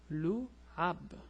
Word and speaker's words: لعب: to pronounce it alone, we usually join it with the letter before it. So when you pronounce, you would say lu and a small pause, then would say both of these letters together, say ab, ab, lu, ab, lu, ab. So the word is lu'ab.